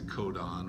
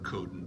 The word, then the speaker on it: codon: uh bases together makes a codon or codin depending on how you want to pronounce that word right so you need